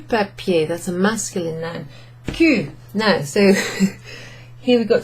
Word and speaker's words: cul: So Q is pronounced in the same way as the letter Q.